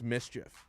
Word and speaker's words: MSCHF: york based company mschf oh it's probably pronounced mischief yeah sounds about right